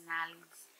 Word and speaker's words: Nally's: I keep saying Nelly and it's Nally's.